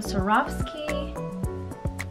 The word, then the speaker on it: Swarovski: So I just picked up two things from Swarovski, that's how you say it.